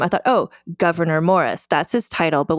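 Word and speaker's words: Gouverneur: Like it looks like Governor, but it's Governor.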